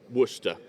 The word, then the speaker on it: Worcestershire: Worcester. Oh God, yeah. Yeah, it doesn't look like that, but that's how you say it.